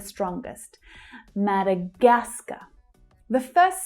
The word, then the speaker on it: Madagascar: Madagascar. Madagascar. So we have a couple of stressed syllables here, but the third one is the strongest. Madagascar. The first syllable is also quite strong. Madagascar.